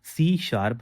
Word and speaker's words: C#: देखो सी#श इसको हम कैसे प्रोनाउंस करते हैं? इसको हम बोल देते हैं ये हमारी सी शार्प लैंग्वेज है।